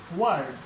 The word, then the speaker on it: word: जैसे WORD, आर के बाद फिर व्यंजन आ रहा है, आर का उच्चारण नहीं होगा, वर्ड, वर्ड।